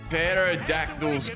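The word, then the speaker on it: pterodactyl: Ah, why can't you hear a perodactyl go to the bathroom? The P is silent.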